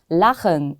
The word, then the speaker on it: Lachen: 앞에 무엇이 들어가 있느냐에 따라서 발음이 달라지는 그런 발음 문제입니다. 일단 읽어보겠습니다. Lachen ist gesund 라고 되어 있는데요.